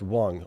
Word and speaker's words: Hong: Uh, Rob says, "Uh, Hong is pronounced Wong."